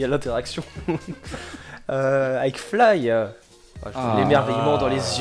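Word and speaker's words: F.L.Y.: restaurants, bars, hôtels thématiques, également une impressionnante attraction Fly, F-L-Y, comme ça se prononce.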